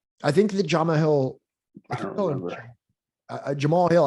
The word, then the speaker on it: Jamahal: I think that Jamahal Hill, Jamahal Hill, I think Jamal. I think, yeah, but it's spelled like Jamahal.